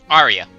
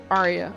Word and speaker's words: Aria: in your mind like in in sorry name pronunciation one more time Arya Arya okay that's how I'm going to have to